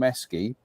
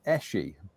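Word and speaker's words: Esci: I saw this advert, I used to call them Esky, and the advert says pronounce it Eshi, and it was like But then that's what I've always called it, even as a kid.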